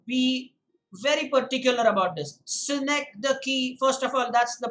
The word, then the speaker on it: synecdoche: want you to be very particular about this snake the key first of all that's the pronunciation the spelling is s y and e